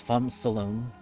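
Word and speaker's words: Phamrsolone: I'm pretty sure the R is silent, so it's Fom Solone.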